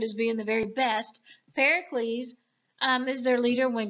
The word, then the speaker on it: Pericles: best under their leader Pericles which rhymes with Hercules so we can think of it as being the very best Pericles um is their leader